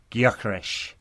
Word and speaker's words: Gyökeres: In Hungarian, it sounds a bit more like Gyökeres. In Swedish, there's more emphasis on the Y than the G, but yeah, it seems anyway.